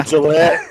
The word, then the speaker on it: Gillett: Oh, was he pronouncing like Gillette or something like that? No, it's like the best a man can get. It's that time. Oh, Gillette.